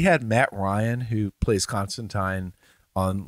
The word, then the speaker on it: Constantine: Yes, and I do call it Constantine because that's how it's supposed to be pronounced.